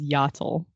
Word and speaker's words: Iatil: But yeah, Brandon, I believe, says Yatil. Ugh. Ah, It's There's like a very very- subtle I on the front.